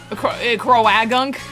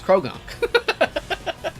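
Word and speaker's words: Croagunk: I like that the A is just We've all decided that the A is silent. Crowagunk. Yeah, Crow Gunk, but nobody pronounces it like that. It's Krounk.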